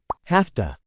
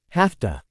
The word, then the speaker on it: have to: end of the day notice that in spoken English have to is usually pronounced in its weak form as have to have to have to I'll have to look